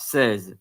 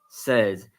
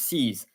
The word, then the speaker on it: seize: then in French the number is in fact says s e i z e says but in English it's pronounced se's it's written the same but c's in English